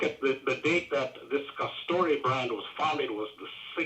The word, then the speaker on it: Castore: This is the first year of their contract, and that company is called Castor or Castori or Castore. I don't know how it's pronounced. It's Castore.